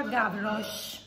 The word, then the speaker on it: Gavroche: Mi dicono dalla regia che si pronuncia Gavroche, Gavroche Paris.